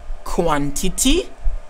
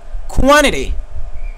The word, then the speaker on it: quantity: I gave you two pronunciations. The word pronounced as quantity or quantity.